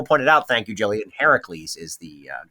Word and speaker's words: Heracles: out, thank you, Jillian, Heracles is the correct pronunciation, the Greek pronunciation.